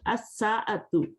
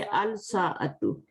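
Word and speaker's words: الساعة: As-sa'atu. As-sa'atu. So we will skip the lam here. As-sa'atu. We cannot say al-sa'atu. As-sa'atu, because seen letter is not here in this sentence.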